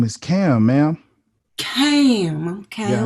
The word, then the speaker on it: Kham: Cam who rhymes with ham.